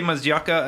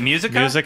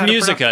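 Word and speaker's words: Muzyka: the BioWare co-founders Ray Mazzucca and Greg Zestchuk. Is it Musica and Zestchuk? Yes. Mazzucca. Sorry. Wow. How do you say it? I honestly don't know. No, it's Musica. It's Ray Musica.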